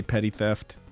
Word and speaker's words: Petty Theft: We also want to give a shout out to our good buddy Petty Theft. Indeed, that is how it's pronounced. 2 P's at the beginning, 2 T's at the end.